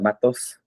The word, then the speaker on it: Matos: Matos.